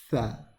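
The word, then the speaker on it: ث: First one is pronounced alif, ba, ta, tha. Now, the thing about this one is that you want your tongue to come right underneath your front teeth, okay?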